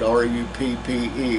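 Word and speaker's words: Ruppe: It's on a place called Rupp Road, R-U-P-P-E, we pronounce it Rupp, just north of the Davis I-35 turnout at exit 55.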